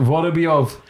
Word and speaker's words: Vorobyov: I'm going to have to pronounce it Vorobyov.